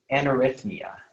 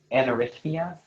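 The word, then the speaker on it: anarithmia: Anarrhythmia. Anarrhythmia. Okay, can I have the part of speech? This word is a noun. Okay, are there any alternate pronunciations? There's one. Anarrhythmia, also anarrhythmia.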